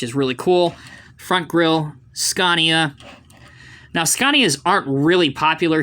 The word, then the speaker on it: Scania: to this set this is and the correct pronunciation is scania even though you may think it's scania with the a it is scania it's the tactical command center but for this